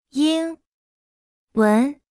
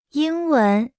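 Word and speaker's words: 英文: 英英文文英文英文英文英文英 Se pronuncia con el primer tono.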